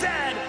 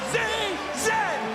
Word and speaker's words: Z: And it is pronounced Zed, not Z-Z.